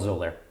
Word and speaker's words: Xolair: It's called Xolair. Xolair? How do you spell that? Xolair. Oh, I had a Z there. Yeah, I know. That's what the X is pronounced.